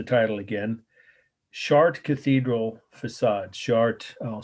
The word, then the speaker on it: Chartres: Chartres, I'll spell it again, is Chartres.